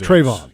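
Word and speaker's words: Trevon: corner you've got Travon Trayvon how do you pronounce Siobhan Trayvon Trayvon yes okay I want to make sure I pronounce that right Trayvon Diggs who last year had 11 interceptions I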